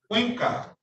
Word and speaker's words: Cuenca: Cuenca with a C. Cuenca. There's no T at the end, but you're getting close to it. Cuenca. Cuenca. Cuenca.